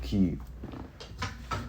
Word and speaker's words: Kyiv: So okay, yeah, it's Kyiv. That's how you say it, Kyiv.